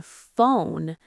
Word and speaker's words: phone: Like in phone, there's a P and H, but it sounds like F.